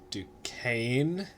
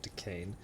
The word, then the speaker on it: Duquesne: Braddock had been sent to capture Fort Duquesne, that's how it's pronounced, Fort Duquesne, at the top of the Ohio River.